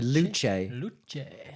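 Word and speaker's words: Luce: The Luch Luch, which which I think that's correct pronunciation in Italian, which is Italian for light, which weirdly is probably the most heavy car they've ever made.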